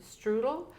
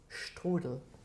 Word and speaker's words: Strudel: menu, we are going to have a chicken strudel, roasted squash, Excuse me. I just remember I just remember yesterday I told you something about the pronunciation. It's strudel. Chicken strudel.